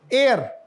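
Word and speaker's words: heir: it mean वारिस लेकिन इसमें आपको मैं अगर बताऊ एच साइलेंट है तो यू मे be surprise एयर और यह क्या है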